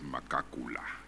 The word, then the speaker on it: Magagula: It's transcribed in the evidence as Magagula. There is a surname called that, and it is pronounced as Makakula.